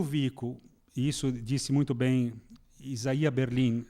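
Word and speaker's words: Isaiah: Portanto, é quando Vico, isso disse muito bem Isaia Berlin. Isaia porque é é a pronúncia correta, não é? Isaia Berlin, não é o russo, né, como a gente sabe.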